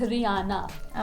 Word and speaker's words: Rihanna: पर it's रियाना. Okay. अच्छा H silent है.